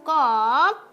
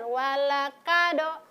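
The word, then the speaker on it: ق: Ada yang selalu mengucapkan walakado. Padahal huruf yang seharusnya diucapkan adalah huruf Qaf.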